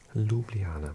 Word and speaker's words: Ljubljana: Um, it's, um, Ljubljana, but it's spelled like this, Ljub ljana.